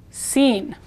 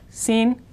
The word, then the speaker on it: sin: this word means without sin again i is e sound so it's sort of like the english word scene with con and seen